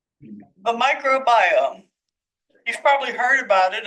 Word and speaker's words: microbiome: group at Oak's natural laboratory is studying the microbiome it's pronounced microbiome not microm which might be something you think